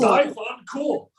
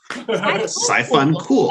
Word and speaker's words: siphuncle: We're going to break it down. It's 3 syllables. So sigh, fun, cool. Fun, So it's cool. Sci-fun, cool. Sci-fun, cool. Okay, now everyone together. Sci-fun, cool.